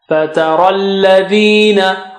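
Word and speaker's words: فَتَرَى الَّذِينَ: Fataralladhina. Ra is thick. And after ra you have ya and alif, so we don't pronounce them because they have no signs on them.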